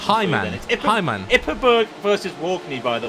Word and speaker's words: Heinemann: I got Heinemann wrong. I kept saying I just said it wrong again. Do I just your pronunciation? Hyman.